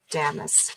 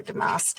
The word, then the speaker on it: damask: And then again, this lovely pattern on the back, kind of the damask or damask, however you pronounce that, depending on where you are in the world, pronounced a little differently.